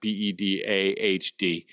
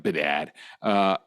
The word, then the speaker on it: Bedard: That's Bedard, not Bedahd, like some of you guys pronounce Bedard.